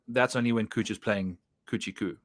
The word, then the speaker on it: Kuchar: And like you said, that course history is interesting, but I've always pronounced play Matt Kuchar at Kuchar courses, but that's only when Kuchar's playing Kuchar-Ku, like Gucci.